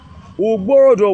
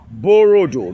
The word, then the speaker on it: Uborodo: Now, during the war of Landolfe, 1786, Uborodo was mentioned. Borodo, because the Europeans cannot pronounce B. The labia B cannot be pronounced by the Europeans.